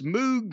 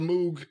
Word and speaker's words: Moog: Or are they just stuck in a time loop and they've got on your goddamn Mox Moog synthesizer and your fucking whatever the fuck else